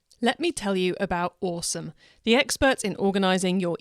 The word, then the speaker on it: Osome: Now, Awesome is spelt OSOME.